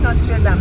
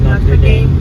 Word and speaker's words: Notre Dame: Notre dam Notre Dame Notre dam d depends pronouncing pwedeng Notre dam pwedeng Notre Dame papunta kami ng car